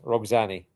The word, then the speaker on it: roxanae: But this is what we call in our modern times, roxanae. Roxanne. Okay. Yeah, I put the name. Yeah, it's like Roxanne, but because of the E at the end, you pronounce it roxanae.